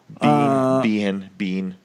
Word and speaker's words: Biehn: Blair's no bean yeah that's how you say his name is Michael Biehn bean I think we wrapped